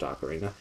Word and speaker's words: ocarina: It is definitely pronounced Ocarina.